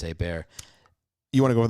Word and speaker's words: Hebert: They would call it Herbert because they can't pronounce the French. They would call it, well, unless they're from there, and then they'd know it's a bear.